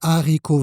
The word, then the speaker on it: haricots: voici comment il s'écrit, et donc l'erreur ici, c'est de faire la liaison. On doit dire des haricots verts, sans liaison.